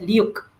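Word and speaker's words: LIWC: uh dictionary it's called L IWC but uh pronounced as luk okay and um this is the finding right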